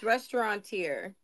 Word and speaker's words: restaurateur: It's restaurateur.